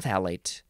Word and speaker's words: phthalate: the first word and the second word has two letters that aren't even pronounced p h t h a l a t e yeah it starts with a f sound but you don't say it you just say phthalate debutal phthalate but I